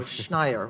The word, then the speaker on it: Schneier: Is Schneier? Is Schneier? Okay. And I said it wrong, too. I added a D, so Schneier, right? So we apologize.